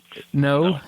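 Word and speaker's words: não: No. Okay. It sounds like you're saying no, but a little bit differently.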